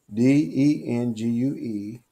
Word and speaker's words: dengue: The dengue virus, D-E-N-G-U-E, I pronounce it dengue, of the 1950s, started in Philippines and Thailand.